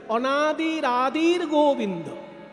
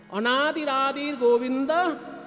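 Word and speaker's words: অনাদিরাদির্গোবিন্দঃ: আদির যে বিসর্গ সেই বিসর্গটা গ এর উপরে রেপ হয়ে চলে যাবে যেমন অনাদির বিসর্গটা আদির সঙ্গে র হয়ে গেছে তেমনি আদির সঙ্গে যে বিসর্গটা আছে ওটা গ এর উপরে রেপ হয়ে যাবে তাই উচ্চারণ করতে হবে অনাদির আদির গোবিন্দ অনাদির আদির গোবিন্দ সর্বকা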